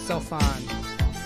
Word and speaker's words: Sophon: The PH pronounced with F. So it's Sophon.